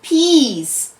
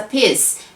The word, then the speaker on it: piece: cake to eat in oh a piece you mean a piece yes a piss no a piece yes a piss okay a piece of cake